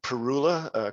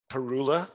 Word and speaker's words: Parula: Most birders, including me, say Parula, but I'm told that the proper pronunciation is Parula. I guess it's tomato.